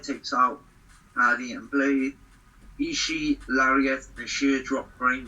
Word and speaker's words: Ishii: the outside side takes out hardy and blade ishii lariat the sheer drop brain buster originally she will butcher my battery i remember the ishima ishii his name is actually i've been told off it's not ishi it's ishii she's toured the world a little bit